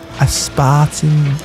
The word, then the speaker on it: aspartame: I like the spartamine. Fucking Coke Zero. Is that how it's said? Sorry? Aspartame.